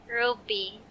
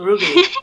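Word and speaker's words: RWBY: iFlix has, how do you pronounce that? Ruby. R-W-B-Y. Ruby. Is that Ruby, yeah.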